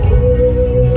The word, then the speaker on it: Hmong: And ladies, the Hmong men I met here were usually sincere, modest, and amicable. They're also mostly on Facebook. If you didn't know, the "H" in "Hmong" is silent.